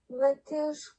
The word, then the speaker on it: Matheus: Aujourd'hui on va parler de Matheus Cunha, on va juste vérifier si ça se prononce bien comme ça. Matheus Cunha.